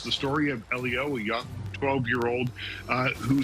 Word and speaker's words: Elio: Is it Elio? Elio is absolutely correct.